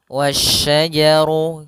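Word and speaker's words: والشجر: Dan di sini hati-hati jangan sampai terbaca huruf syin apa? Huruf sin lagi tapi dia huruf syin wasyajar sebagaimana yang di awal tadi ayat kelima.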